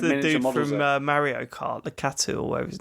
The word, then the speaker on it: Lakitu: From Mario Kart, Lakatu or whatever his name is. Well, how do you say Lakitu. that? Yeah. Lakitu.